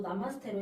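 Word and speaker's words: नमस्ते: 읽는 거는 마스테라 읽어요 제가 아까 소개할 때도 나마스테 시작을 했는데 안녕하세요라고 안녕하세요라는 뜻을 가지고 있습니다 만나서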